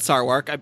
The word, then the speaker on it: Sarwark: It's spelled Sarwark. I believe it's pronounced Sarwark.